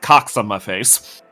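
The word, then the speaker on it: QXONMAFAE: n m a f a e which is pronounced Cox on my face uh for Majora's Mask it was SPO for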